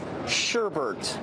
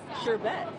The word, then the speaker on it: sherbet: It's sherbet. Sherbet? It's sherbet. I bet you didn't know that. I didn't know that either, but all of America's pronouncing it improperly.